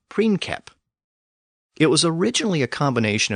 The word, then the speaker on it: princeps: keep in mind that the letter C was always pronounced as a K in Latin. So in Latin, the word was pronounced as princeps.